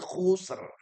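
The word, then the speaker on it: خُسْرٍ: Innal insana lafi khusr. Nah, yang ketiga yaitu sama dengan asr. Ini khusus ada efek dari ra yang mati.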